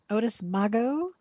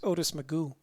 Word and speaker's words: Otis Mago: Otis Mago, 23 Monarca. James Oh, it's Brown. actually I was corrected. It's pronounced Otis Magoo. I know it doesn't look like that, but that's how he pronounces it.